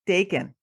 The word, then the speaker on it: Dakin: F50 woman today we are here with daon now I pronounced your last name right D absolutely